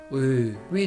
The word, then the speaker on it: ㅢ: who pronounces this vowel so you can just consider this is we okay let's pronounce it